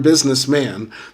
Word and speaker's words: businessman: Uh in the use of the term businessman, the syllable man ought to be stressed.